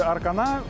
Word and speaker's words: Arkana: Или, как говорят сами французы, Arkana, и мне нравится это ударение.